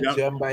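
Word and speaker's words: Djemba: Jemba, yes. That person spelled Gemma. Gemma name wrong.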